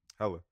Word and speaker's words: Hela: Yeah, because I was looking for Thela in the Thor movie, and there ain't no character named Thela. Hella.